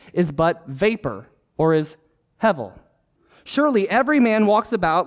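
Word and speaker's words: הבל: b e l but it's pronounced hevel with a V rather than the B um I don't know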